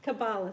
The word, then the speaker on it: Kabbalah: to be focusing on I don't know if I'm pronounced it's either kabbawa or Kabbalah what is uh Kabbalah Kabbalah thank you I would never know